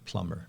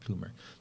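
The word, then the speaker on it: Plummer: m e r okay so it's so it's plumber not plumer plumber yeah yeah he was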